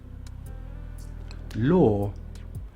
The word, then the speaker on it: law: One of my favorite words for this sound because a lot of people mispronounce this word it's quite a common word is: law law.